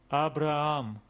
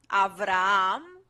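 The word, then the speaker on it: Αβραάμ: let's read it together Abraham Abraham Abraham yes okay yeah again this Vita that it's not a bad beta beta whatever it's Evita avram but okay what to do this is Erasmus accent okay all right oh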